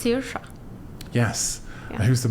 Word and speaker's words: Saoirse: Can you I know how pronounce it's that? that. You do. It's Saoirse.